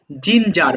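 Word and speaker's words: ginger: এটা আবার গিঞ্জার বলো না। জিঞ্জার মানে আদা।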